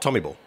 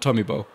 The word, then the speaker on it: Tommyball: ways to be honest art Tommy ball not Tommy Bowl no no no no tell me well know when the game internationalised of course a bit of this comes in and that's fair enough different places and different pronunciations but I'm a bit of a traditionalist so I I stick with Tommy ball what about did you